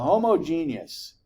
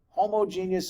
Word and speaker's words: homogeneous: pronounce that first word homogeneous anybody else all right you guys are good we always get the homo genius homogeneous accretion Theory no it's homogeneous and and I don't know